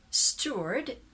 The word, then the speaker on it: steward: this is american pronunciation so american you say steward word that's an er sound that's the unstressed sound of the er so i taught you